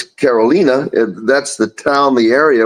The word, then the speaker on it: Carolina: Spelled like Carolina, but in San Juan and in Spanish, it's Carolina.